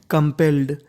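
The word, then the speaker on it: compelled: और यहाँ पे L हमारा 2 बार है तो उच्चारण करना है 1 बार। तो मीनिंग बन गई हमारी कंपेल्ड, कंपेल्ड। कंपेल्ड का मतलब होता है मजबूर या विवश।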